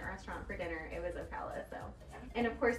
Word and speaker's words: Ocala: It's like, no, it's like Ocala.